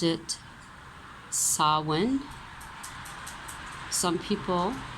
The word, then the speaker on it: Samhain: Celts pronounced it Samhain. Some people pronounce it Samhain.